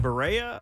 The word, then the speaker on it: Berea: Berea, Ohio is how They it's do.